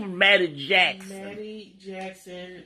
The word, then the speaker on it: Mattie: My name was Mattie Jackson. Mattie Jackson. With MATTIE. second T is silent.